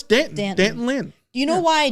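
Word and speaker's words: D'Anton Lynn: The the SE media guide literally says rhymes with Canton. So, it's Dant Danton Lynn.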